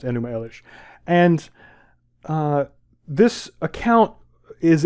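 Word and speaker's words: Enuma Elish: Wi on High um uh which would be pronounced enum Elish and uh this account is as old as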